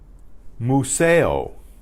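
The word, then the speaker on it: museo: Lola's famosa mooo sale the sound of the you is ooh ooh ooh ooh-ooh-ooh not ooh ooh so mucho mucho mucho mucho right that went three times or five times whichever Moo sale Moo sale Moo sale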